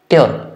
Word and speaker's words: Tür: Tür, U umlaut. Tür, U, sound is U. Tür.